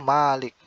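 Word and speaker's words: مالك: Jadi Imam Asim, Imam Kisai dan Yaqub, Imam Yaqub membacanya itu Malik, mimnya panjang. Jadi ma-nya dipanjangin, Maliki Yaumiddin.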